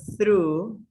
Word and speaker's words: through: be made to go through through one in every building it is pronounced through through th sound through through through through